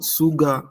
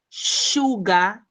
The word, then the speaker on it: sugar: That is, you pronounce it SH. Sugar. Okay, ma'am. The recipe calls for flour, sugar, and butter. Sugar. Shh. Like you are saying shh.